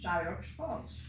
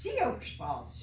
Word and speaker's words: Sioux Falls: So I pronounced it Sioux Falls. Oh no, said the travel agent. That is pronounced Sioux Falls.